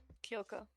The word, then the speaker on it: Kyoko: How do you pronounce it again? Kyoko.